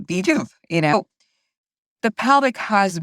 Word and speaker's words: VJUV: to vuv you know and and uh it's pronounced vuv you know the pelvic has been the number